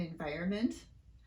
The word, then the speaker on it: environment: you been wondering why it sounds like americans drop the middle end in the words government and environment stay tuned and i'll